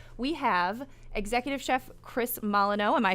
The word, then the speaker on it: Molyneux: Coffee break turned cocktail and food break because we have executive chef Chris Molyneux.